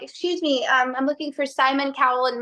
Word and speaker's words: Simon Cowell: me, I'm looking for Simon Cowell, and mispronouncing his name like Simone Cowell, just like.